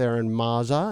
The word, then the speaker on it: Eron Mazza: are the host of the witching hour with aaron mazza am i pronouncing that right yes i am okay they